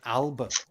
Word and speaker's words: Alba: But you go look for Alex Salmond, and he's a member, as you would pronounce it, Alba, but Alpa, which is another nationalist Scottish political party.